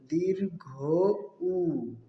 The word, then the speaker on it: ঊ: এই বর্ণের উচ্চারণটি হবে দীর্ঘ উ। দীর্ঘ উ। দীর্ঘ অর্থ লম্বা বা খাটো। দীর্ঘ উ, লম্বা বা দীর্ঘ মানে লম্বা আওয়াজ দিয়ে পড়তে হবে।